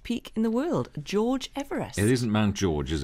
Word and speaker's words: Everest: last night uh all about all about george everest and uh george everest as uh as his actual name was because he pronounced it eve rest um and one of